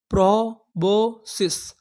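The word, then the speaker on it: proboscis: प्रोबोसिस।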